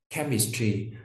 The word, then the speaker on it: chemistry: Chemistry, chú ý không đọc là chemistry mà đọc là chem âm k, được chưa nào?